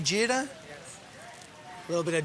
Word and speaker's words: jeera: Am I saying it right, jeera?